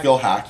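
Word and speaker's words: Phil Haack: That's Phil Hack.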